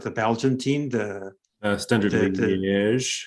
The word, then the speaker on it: Liège: So that's the liking of the Belgian team, the Standard Liège. How do you say it? Standard Liège, exact.